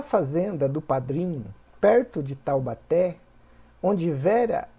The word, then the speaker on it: Taubaté: forte Então vamos lá Taubaté última sílaba oxítona Lúcia penúltima sílaba paroxítona